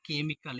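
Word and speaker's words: chemical: आई के एल तो यहां पे हम च इसका उच्चारण नहीं करेंगे यहां पे हम इसका उच्चारण का से करेंगे तो जैसे लिखा है केमिकल इसका उच्चारण हम बच्चों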